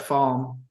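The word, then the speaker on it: Falme: The pronunciation guide says yeah, Falma, the official resource.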